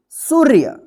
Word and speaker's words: सूर्य: रेफ की मात्रा है, तो इस रेफ का मात्रा जो है ना उच्चारण होगा सु के बाद, तो क्या पढ़ेंगे इसको, सूर्य, क्या पढ़ेंगे, सूर्य।